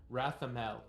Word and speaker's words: Rathamel: Rathamel. Raphael. I will spell it in the chat for you just in case. Rathamel. Think like wrath and caramel mixed together.